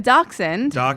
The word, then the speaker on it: dachshund: fashioned i said dashand right dashes okay good i did it right a dachshund would be how you would say it but he's not a